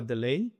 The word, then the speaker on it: Deleye: So we're we're going to introduce our guest, Nicola De Ley. Did I pronounce that correctly?